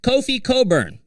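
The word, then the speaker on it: Kofi Cockburn: Kofi Coburn, and I have trouble saying his name because when I look at it phonetically, it's not what it says to me, but that's okay. Kofi Coburn.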